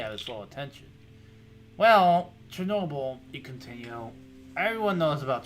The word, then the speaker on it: Chernobyl: It's pronounced Chernobyl.